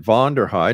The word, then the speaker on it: Vonderheide: break actionation our guess this hour is vonderheid and I hope I'm pronouncing your family name right that's exactly right